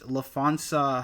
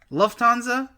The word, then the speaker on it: Lufthansa: um this movie is based on the 1978 lefonsa heist if i'm pronouncing that correctly as well as a book called wise guys uh what did you say logan lufthansa okay okay also based around the book wise